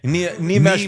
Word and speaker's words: Nimesh: Nimesh Patel, yeah. I just mansplained his pronunciation to you. Yeah. Nimesh.